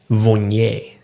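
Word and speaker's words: Viognier: Yes, it's funny with vi it's in French it's um vignet is how we're supposed to say it.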